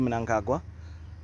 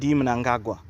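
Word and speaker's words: Mnangagwa: Ed managa yes uh to all you people out there it's Ed angaga okay so all you other journalists that say his name funny we hear you and that's not how you say it practice please he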